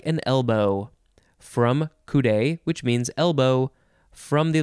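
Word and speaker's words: coudé: chip fry me up boing next word is kudai c-o-u-d-e there is an accent on the e which is down on the left and up on the right adjective from circa 1889 who it's a long definition kudai of relating to or being a telescope constructed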